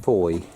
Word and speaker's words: Fowey: Fowey, where Jill and Stephen are thinking of moving to. Is that where we are? Yep, that's the main car park. Fowey, isn't it? No. No, you pronounce it Foy.